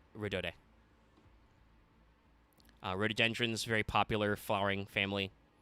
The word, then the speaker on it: Rhodode: And I should actually double-check how to pronounce this, because I think this is Trickstar Rodode, but I'm not sure. Let me actually... yeah, it's she's named after rhododendron, so yeah, it would be Rodode.